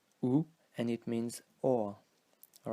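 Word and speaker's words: où: mistaken and this is this word which is pronounced ooh so like the sound of poo and it means we're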